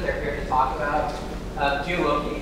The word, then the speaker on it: Geoloqi: here to talk about gei is actually the way I've been pronouncing is that correct okay excellent I forgot